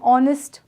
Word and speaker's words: honest: next rule is before a noun that begins with a silent Edge for example an R an honest man these are words beginning with silent Edge therefore for usage of